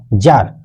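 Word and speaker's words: tsar: to present to अ जार य T silent है इसको पढ़ा जाएगा जार सार नहीं पढ़ जाएगा जार पढ़ा जाएगा किंग जर को क्या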